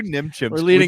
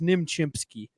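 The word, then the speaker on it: Nim Chimpsky: yeah you know who Nim chimp false narrative about Nim chimp Nim chimp we have to start staying it's nimchimpsky I say it correctly youve never said it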